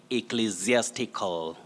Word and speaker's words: ecclesiastical: attempt but we say ecclesiastical enthusiastical the first s in that word takes the voiced sound like a zed so